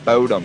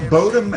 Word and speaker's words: Bodom: say the band name i keep saying bowdom like it's boaty like it's like a dorky kid but bodum and bodom are both kind of accepted the name actually comes